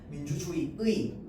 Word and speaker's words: 민주주의: 민주주의의, 민주주의에, 맞죠? 자, 그래서 조사 역시 의로 발음하는 것도 가능한데 애로 발음하는 것도 허용합니다.